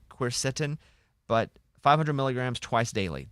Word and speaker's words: quercetin: The other one's pronounced quercetin.